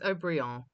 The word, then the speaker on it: Haut-Brion: Pronunciations are all wrong. Lafite, it's Lafite, and it's Haut-Brion, and these things do matter.